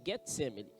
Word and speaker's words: Getsêmani: um lugar chamado getsêmani muito faro getsemani mais a pronúncia get semana e disse aos seus